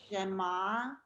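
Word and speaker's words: שמע: Shema. Kedusha. Okay, and as you notice in Hebrew, a lot of the words are pronounced emphasis on the last syllable.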